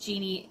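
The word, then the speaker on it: Jinni: The Golem and the genie Aaron Jenny it's pronounced genie and in the narration it's written by Helene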